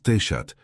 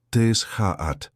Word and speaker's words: Teshaat: «No es Teshat, es Teshaat», decía, riendo.